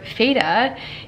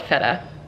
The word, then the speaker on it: feta: and i feel like i've always heard feda and like i feel really bad that i've been mispronouncing it you guys know that i mispronounced things all the time no shame in that and i will do better next time i will definitely call it feta from now on okay all right now